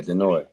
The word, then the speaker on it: Denoi: Yeah. Denoi. Denoi. No S. Denoi.